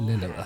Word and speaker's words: Lilira: I leave Lady Lilira in your capable Lilira, hands. that's how you pronounce it.